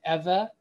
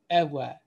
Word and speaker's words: Eve: So we say Eve, but the better pronunciation is Eva or Ewa.